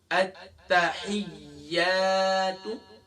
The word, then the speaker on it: التحیات: اب اس کی ہجے کریں گے. حمزہ تا زبر ات، تا زبر تا ات، حا یا زیر حی یا الف زبر یا التحیہ. گویا کہ ہمیں یہ پتہ لگا تا بھی مشدد ہے اور یا بھی مشدد